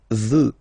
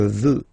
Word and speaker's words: veux: First person, je veux. Final X, not pronounced. Je veux.